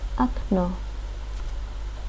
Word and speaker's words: окно: In the word okno, window, we pronounce the second O, which is stressed like O, while the first O is shorter and becomes A.